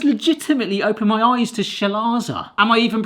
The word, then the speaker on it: chalaza: This has legitimately opened my eyes to chalaza. Am I even pronouncing that right? Chalaza. Chalaza. Not chalaza. Not cal. So it's not chalaza. It looks like chalaza. C-H-A-L-A-Z-A. Chalaza. Wow.